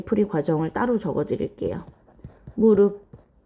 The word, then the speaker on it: 무릎: 무릎 자 무릎은 발음을 무릅 비읍으로 바꿔요.